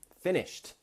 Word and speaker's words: finished: Finished. Now this is the T sound.